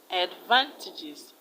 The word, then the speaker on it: advantages: The A is pronounced and is the short sound, and the second syllable will carry the stress because it contains a long vowel sound.